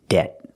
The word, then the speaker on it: debt: the first word is debt the B is silent and when we pronounce